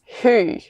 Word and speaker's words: Høg: So, in for instance, my last name, we don't pronounce the G. And we also have not many... Not like it's a long name, H-O-G, but we don't pronounce the G. So slowly, I love this. Slowly, how do you pronounce your last name? Who? Who? Yeah. Okay. Yeah. So every non-Dane would say, right?